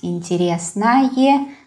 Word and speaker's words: интересное: Например, самое интересное кино – это корейское кино. Самое интересное кино. The word кино is neuter. That is why самое интересное. Yeah, I pronounce интересное, самое, but we spell it with о.